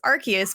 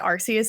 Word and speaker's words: Arceus: Pokemon Legends Arceus. By the way, I've always pronounced it Arceus until today.